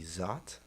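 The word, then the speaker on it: Szot: say that last name s-z-o-t zot yeah i didn't know until last year it's zot zot well zot mr zot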